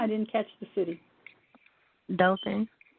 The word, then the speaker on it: Dothan: Dothan. Delton? Mhm. Some people pronounce it Dothan.